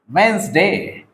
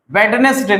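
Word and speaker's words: Wednesday: Since last वेंसडे, इसका correct जो pronunciation है वो आपको बोलना है वेंसडे, वेडनेसडे नहीं बोलना है, वेंसडे।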